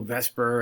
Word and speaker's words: VSEPR: 2 was a little vesper and hybridization and yeah i know it looks more like the zephyr i don't know why people pronounce it vesper i guess it just